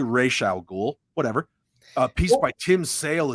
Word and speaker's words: Ra's al Ghul: Yeah, Then and all of a in the sudden, animated series, they say Ra's al Ghul, and then yeah, Ra's and al Ghul.